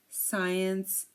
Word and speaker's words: science: the C so here the C is silent because um like we said it is after an S and before an e or an i again desent Fascinate floresent seen scent science and scissors uh repeat